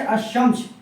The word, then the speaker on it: الشمس: شمسی بھی 14 ہے۔ وہ حروف جن سے پہلے الف بھی آتے ہیں اور لام بھی آتے ہیں مگر اس وقت لام کا تلفظ نہیں ہوتا ہے۔ ٹھیک ہے؟